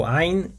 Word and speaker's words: ع: So ayn is a unique sound that does not exist in the English language. And to pronounce it, you start by slightly constricting your throat as if you were beginning to make a coughing sound, and then push the sound from deep in your throat, allowing it to resonate.